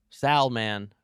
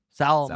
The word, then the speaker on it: salmon: Salman. Salmon. Salamanders. Because it's not man. It's not sal. It's not man. It's mon. Right?